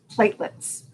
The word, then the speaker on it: platelets: Well, they're pronounced platelets. What are platelets? Even though there's an extra E in there.